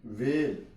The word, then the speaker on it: whale: वीट, वेल, वेल, WHALE, वेल, H silent है।